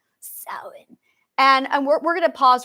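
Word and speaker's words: Samhain: gang it's not pronounced Sam hang Americans it is pronounced sa okay sa s a m h a i n s because when you have M and H together it's a w sound s okay B is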